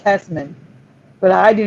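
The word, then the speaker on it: Hesseman: the screen and it's specimen now it's still pronounced hesmen but i do not remember the e the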